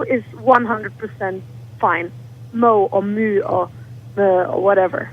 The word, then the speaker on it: MØ: I mean, in Danish, you'll just say Mø.